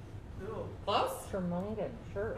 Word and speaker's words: Jormungand: Is good luck pronouncing that. Jormungand. Cool. Close? Jormungand, sure.